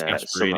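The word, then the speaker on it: Gasperini: Like Gasparini or something like that. It's Gasparini, like that, yeah.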